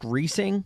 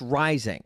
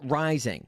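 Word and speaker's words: Reising: And his last name may look like it's pronounced Reesing, but it's actually pronounced Rising. Buck Rising. His name loosely translates to inflation. In fact, a good way to remember how to pronounce his last name is that his last name is a lot like his weight. Rising.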